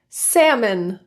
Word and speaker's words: salmon: L is a bit trickier as there are a few situations it can become silent and it's not completely consistent. LM, LK. Those are the more frequent situations where you'll see the L disappear.